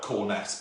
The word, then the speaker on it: Cornes: then c o r so it's spelt corn s but pronounced corns um so that uh